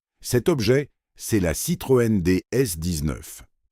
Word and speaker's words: DS: Cet objet c'est la Citroëne DS19. DS prononcé comme le mot DS, un nom qui n'est pas un hasard.